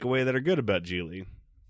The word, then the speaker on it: Gigli: Gigli is about Larry Gigli, rhymes with really.